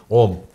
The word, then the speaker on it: Om: If only I could do like the monks. OM The sound almost comes from the nose OM This is the sound,